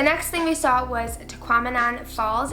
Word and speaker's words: Tahquamenon: The next thing we saw was Tahquamenon Falls. If you want an easy way to remember how to say this, it rhymes with phenomenon.